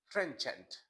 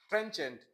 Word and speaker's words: trenchant: you uh uh speak Trent can you please pronounce the trenant yes listen to this please trenant trenchant trenchant which means a vigorous and inessive way inessive